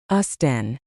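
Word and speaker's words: Austen: We actually pronounce the T there. So, it's Austin, not Austin.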